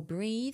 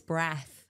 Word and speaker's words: Breath: caught by James Nester I don't actually know if it's it's pronounced breath or breathe I think it's breath I'm I'm sure that's definitely breath that's do not breathe now my mom actually